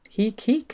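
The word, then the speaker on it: Heke: So Heek, it rhymes with Reek.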